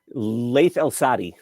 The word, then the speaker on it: Laith Al-Saadi: I hope I'm pronouncing his name right. Laith Al-Saadi. Laith Al-Saadi.